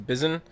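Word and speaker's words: Bizon: lot more with the Bizen. It's B I Z O N. I think that's how you pronounce it as Bizen. That's how I would pronounce it.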